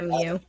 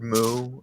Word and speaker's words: mu: I heard Moo and thought How I do care. MOO. Yeah, so did I. So I think that it's supposed to be mu, like the Greek letter is pronounced mu.